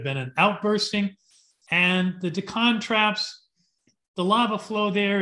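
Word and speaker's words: Deccan: earth there's an area in india called the decon traps d-e-c-c-a-n forgive me friends if i'm mispronouncing this the decon traps this has for a long time thought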